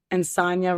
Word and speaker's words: Insogna: well I did but they just said like andna Rams with lasagna and so now I